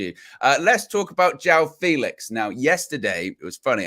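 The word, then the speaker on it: João Félix: then suddenly kg came in said I want Joe Felix or I spoke to Paulo last night Jeff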